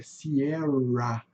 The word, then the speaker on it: Sierra: Então aqui é Sierra, lembra de Rio de Janeiro?